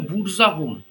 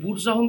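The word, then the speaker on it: Burzahom: তোমার মেহেরগাড় ছাড়া একটা কেন্দ্র ছিল সেটা হচ্ছে বুরজাহোম বানানটা হচ্ছে বি ইউ আর জেড এ এইচ ও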